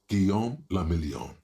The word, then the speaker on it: Guillaume le Million: Guillaume le Million. If Whatever it that doesn't means. rhyme, you're not pronouncing it right.